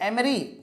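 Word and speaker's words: emery: इसके अलावा क्वार्ट्स के पत्थर, कैल्शियम कार्बोनेट, कोरंडम, एमरी, इसका प्रोनाउंसिएशन समझ लीजिए एमरी, इसको एमरी बोलेंगे।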